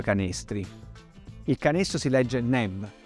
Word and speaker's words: Neb: Il canestro si legge Neb e vuol dire signore, padrone.